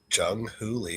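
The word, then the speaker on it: Jung Hoo Lee: I like Jung Hulie. I Jung Julie is a perfectly great pick. And that's how you should say his name.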